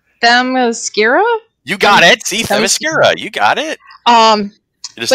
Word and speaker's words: Themyscira: See, Themyscira.